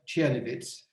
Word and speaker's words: Czernowitz: Well, the city of Czernowitz is the Germanic pronunciation, had many names.